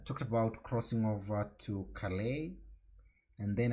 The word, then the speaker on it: Calais: about crossing over to calais and then i had to check the pronunciation and all along all those years i thought that was class so let's crossover triggers